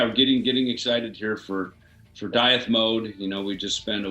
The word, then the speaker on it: Dieth: Yeah, we call it Dieth, is what we call it. Yeah. Diet. Yeah. Okay. I was thinking about diet, but it was like, no, it sounds like diet.